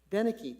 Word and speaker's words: Danek: Danek, how do you say the last name? Denicky, thank you so much.